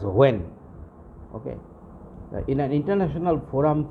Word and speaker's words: WAME: Okay, and when, WANE, when, it is pronounced as when.